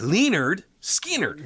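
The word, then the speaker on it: Lynyrd Skynyrd: Leonard Skinnard, pronounced Leonard Skannard.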